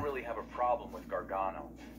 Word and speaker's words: Gargano: have a problem with Gargano it's Gargano but if it gives me an edge against Wes Lee I'll do it don't say it wrong it's Gargano all right wasn't expecting